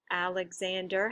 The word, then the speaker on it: Alexander: In Alexander, Alexander has 4. And it's Zan that's actually stressed in that word.